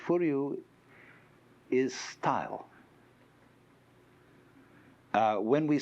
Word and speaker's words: Furyu: You could say Furyu is style.